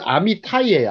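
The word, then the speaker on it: אמתי: 아들이라 그러죠 아미라고 합니다 아미티 히브리식 발음은 아미 타이요 아미타이 아미타이에 아미 타데에 자이는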